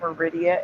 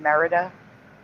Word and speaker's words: Merida: you for one second are you saying her name is not Meridia it's Merida yeah it's Merida Esther